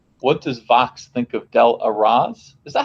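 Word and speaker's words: Del Arroz: What does Vox think of Del Arraz? Is that how to pronounce his name? I've never heard it spoken. Del Arraz. Delarose.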